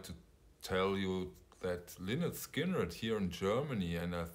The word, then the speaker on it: Lynyrd Skynyrd: great job first edition we talked about is pronounced lynette skinner first album those additions are all 45 rounds